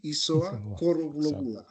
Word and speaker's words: Isoa: Uh my name is uh it's even though it started with I, it's pronounced E. Isa.